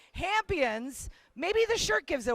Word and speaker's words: Hammpions: of the shorts film, Hammpions. I'm saying it correctly, right? Yep. When I first glanced at it, I was like, Hamptons? Something about the Hamptons? No, Hammpions.